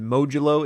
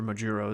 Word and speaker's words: Modulo: Well, it's officially spelled Modulo, Modulo, but there's some wiggle room on the pronunciation because there's some nuance with how Japanese is translated. So, I mean, Modulo is technically correct, but you know, there's an argument to be made for Majuro as well.